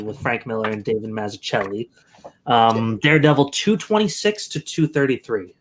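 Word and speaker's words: Mazzucchelli: I think it's a hard C like that, like the Italian. Mazzuccheli. It's not David Mazzuccheli.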